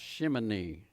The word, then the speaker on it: Shemini: It's pronounced Shemini.